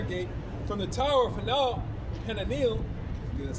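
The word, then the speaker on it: Hananeel: unto the corner gate, from the tower of Han Panil, that's how you say it, unto the king's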